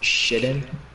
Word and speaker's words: chitin: What? Shitten? Did you spell it out to me? Chitin? apparently.